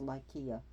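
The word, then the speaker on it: Lycia: spelled lysia but it's been supposed to be pronounced lykea so he has that done for his son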